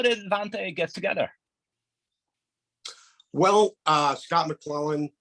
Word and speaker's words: Vante: Yes, Vante. Okay. So the first question is, how did Vante get together?